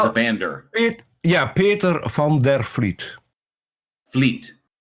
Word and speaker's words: Vliet: Fleet. So that V is like an F? Yes, a soft F.